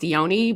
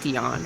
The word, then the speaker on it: Dione: Dion uh okay so it's actually pronounced Deon but I go with Dion Because Deon is one